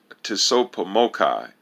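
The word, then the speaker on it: Tsopahmocci: of civilized cultural information pronounced tiso pomokai and spelled t-s-o-p-a-h-m-o-c-c-i the national humanitarian effort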